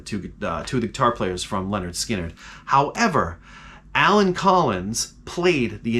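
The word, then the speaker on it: Lynyrd Skynyrd: was off the album pronounced Leonard Skynyrd That was released in 1973.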